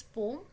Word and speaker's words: poem: Actual में इट्स नॉट पोएम, इट्स पोम। एंड ठीक है, इतनी बात समझेगा। और इसका प्रोनाउंसिएशन पोम ही होता है, एक्चुअल में इट इज़ करेक्ट।